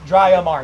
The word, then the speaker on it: Dryomar: From Casmer's Cove to Dryomar. It's dry. That's how it's pronounced. Dryomar.